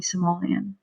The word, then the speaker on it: Somali: you serious if you keep on calling me Somalian I thought you were Somalian I corrected it's pronounced Somali Somali man get it right dude